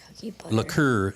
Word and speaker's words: liqueur: cookie butter cream liqueur liqueur actually is the way you pronounce it liqueur oh what would